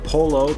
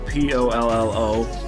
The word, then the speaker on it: pollo: native english speaking individual polo p-o-l-l-o that's how it looks like it's pronounced english but it's pollo in spanish and it means chicken